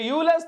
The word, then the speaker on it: Euler's: ठीक है, actual pronunciation is Euler's, but I prefer to pronounce it like Euler's because that's what I have done since my childhood।